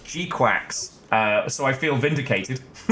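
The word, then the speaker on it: GQuuuuuuX: I know it's a soft G and it's it's a qu. No, they literally say Gquax.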